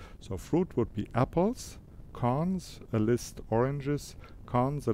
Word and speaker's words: cons: the construction operation which is written as a double double point and is pronounced cons so the operation ex